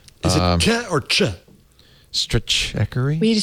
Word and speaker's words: Stratechery: We have to decide how it's pronounced. And I'm going to say stratechery. I believe that's correct.